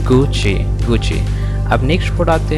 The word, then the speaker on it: Gucci: हैं क्या, गुकी है, लेकिन ये गुकी नहीं, इट इज़ रॉन्ग प्रोनाउंसिएशन। गुकी क्या है आपका? Wrong pronunciation. इसका करेक्ट प्रोनाउंसिएशन आपका गुची। क्या? गुची। एक बार और इसे प्रोनाउंस कीजिए, गुची, गुची। तो इसका करेक्ट प्रोनाउंसिएशन क्या है? गुची, नॉट गुकी।